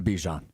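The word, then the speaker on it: Bijan: Bjan. Well, no, that's how it's correctly pronounced, but he said he wants to go by Bejian.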